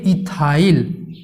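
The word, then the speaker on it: ethyl: अलग अलग इनका प्रोनाउंसिएशन होता है, एथिल भी बोलते हैं कुछ कुछ लोग, तो आपको इथाइल बोलना है।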